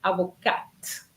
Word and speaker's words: avocate: Okay, you see, I made sure that I put avocat feminine to see whether or not you were going to pronounce the T.